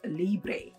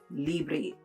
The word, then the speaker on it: Libre: her, you know, if the fragrance is actually Libre or if it's Lib. And she did tell me that it's actually pronounced Libre. Okay, it's YSL Libre.